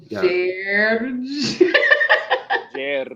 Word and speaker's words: Gerge: Gerge. Is that how you say it? Yeah. You gotta roll the R though. Gerge.